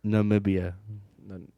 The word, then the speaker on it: Namibia: How do you pronounce it? Namibia.